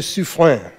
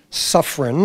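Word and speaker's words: Suffren: crews nicknamed Admiral Satan Pierre Andre de su flan Suffern as we Americans pronounce it was a nasty demanding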